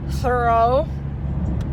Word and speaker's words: Thoreau: Thoreau. Is that how you pronounce his name? Yeah. Okay, good.